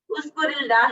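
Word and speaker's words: اذكر الله: अगर तो हम इसको पढ़ते हैं उज़कुर अल्लाह, उज़कुर अल्लाह, अल्लाह का जिक्र करो, तो उस सूरत में क्या होगा कि ये उसमें रे पे डायरेक्ट साइलेंट होगा। लेकिन अगर हम इसको मिला के पढ़ते हैं तो दो साइलेंट इकट्ठे नहीं आ सकते। इस वजह से उज़कुरिल्लाही रे के नीचे जेर है, और ताकि जब हम मिला के पढ़ें तो उसको उज़कुरिल्लाही पढ़ सके।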